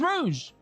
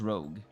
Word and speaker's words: Rouge: I thought it I thought it was rogue. Like r o g gu, but it was rou. It was r o u g e.